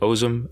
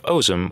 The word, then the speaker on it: Ozem: are the Knights of Ozem and the Order of the Godclaw. The Knights of Ozem, or Ozem, depending on how you want to pronounce it, have also been recently